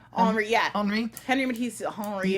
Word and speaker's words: Henri: Henri, yeah.